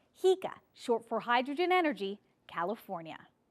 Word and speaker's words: HECA: idea is so divisive even the pronunciation of its name is controversial we have long called it hecka but recently that pronunciation has become contentious so for the purposes of this story we'll call it what the developer calls it hea short for hydrogen